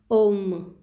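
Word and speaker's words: homme: in english h words do not have its pronunciation so it is om means man i is pronounced e french word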